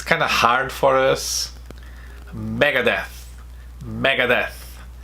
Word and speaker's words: Megadeth: of hard for us Megadeth Megadeth he's not deaf but it's death death Megadeth countdown countdown